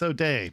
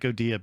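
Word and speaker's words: O'Dea: Is it Odia or O'Day? I thought it was O'Day. I like Odia better. O'Day. It sounds fancier. I don't think that's correct, though. No, it's O'Day, but I like Odia better.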